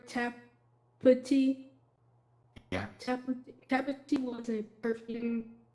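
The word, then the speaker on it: Tapputi: Tapati.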